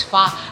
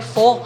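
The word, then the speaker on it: phở: At ang pronunciation nga daw nila is fa. Akala ng mga Pinoy, fo. Kasi ang Diba? spelling niya P-H-O. Ah. But it's pronounced fa.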